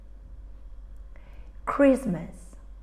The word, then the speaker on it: Christmas: And all these words have in common a silent T. We don't say things like listen or castle. We say listen, castle. So we write the T, but we don't pronounce it.